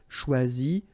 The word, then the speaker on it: choisi: Okay, same rule, you don't pronounce them. So phonetically, you will have choisi, choisi, choisi, choisi, choisi, choisi, choisi, and choisi. So the same phonetical form, okay?